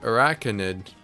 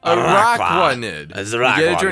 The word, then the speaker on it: Araquanid: Dude, Arachnid, which I know I'm mispronouncing. Araqua. Araquanid. Araquanid.